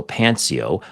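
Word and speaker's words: Xpanceo: It appears that the X, it's spelled XP CEO and the X is silent. So Pancio, a company headquartered in Dubai, United Arab Emirates, which were featured at the Mobile World Congress in Barcelona last month.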